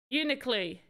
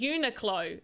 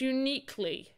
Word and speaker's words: Uniqlo: Because I was calling it Uniqlo. It's not Uniqlo, is it? It's uniquely.